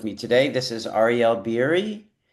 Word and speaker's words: Beery: So, in in uh in America, I go by Ariel Biri and in Israel my my actual name is Ariel Berry.